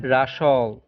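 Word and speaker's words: wrestle: Rules number 23, শব্দে ডাব্লু আর এর উচ্চারণ হয় র। এখানে ডাব্লু অনুচ্চারিত থাকে।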